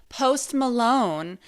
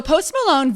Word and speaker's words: Post Malone: Very recently, as of 2018, a very famous American rapper whose name rhymes with host Toblerone. Okay, so a very famous rapper, you may have guessed it, Post Malone, actually recently had a frightening encounter with the Dybbuk box.